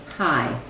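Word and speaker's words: high: Hi. You just say the H and the I, hi, it is silent.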